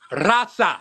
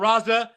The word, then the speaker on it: rasa: really didn't even look rasa that's how you say it not Raza not these guys don't